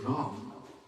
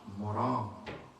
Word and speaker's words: Ram: How Ratnaka are unable to pronounce proper way to Ram. Instead of Ram, he was chanting Maram.